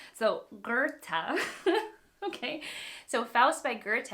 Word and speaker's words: Goethe: In English, it is usually said as Goethe. Okay, I always get Goethe's name it's just not the name that I remember, and it doesn't follow pronunciation rules. So Goethe.